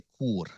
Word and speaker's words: Ekur: Read his latest, The Demon in the Ekur. That's the correct pronunciation, by the way.